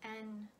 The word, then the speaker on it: 円: Its onyomi is N, or for us foreigners, we pronounce it as yen, but in Japanese language, there is no ye. yeah, sound. So it's N, yen, yen, yen.